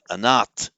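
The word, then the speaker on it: अनाथ: if um somebody is an art um means either literally an art is the modern Hindi pronunciation of Sanskrit anata if your anat means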